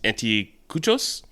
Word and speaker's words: anticuchos: game recipe website, and for good reason, is anticuchos. That's how you pronounce it, Justin, you know?